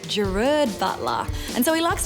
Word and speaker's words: Gerard: we mostly call him Gerard Butler but that drives him crazy his name is actually pronounced gerud Butler and so he likes to go by